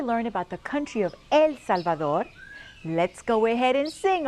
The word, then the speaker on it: El Salvador: In Spanish, it is spelled the same way, but pronounced El Salvador. Say it with me. No amigos. El Salvador.